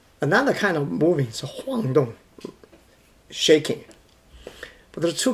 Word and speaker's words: 晃动: Here, if we use it as a verb, it should be pronounced as forced tone. Should be 晃动.